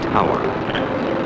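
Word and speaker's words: tour: in the oil fields is called a tower why nobody knows it is spelled tio you are this well operating in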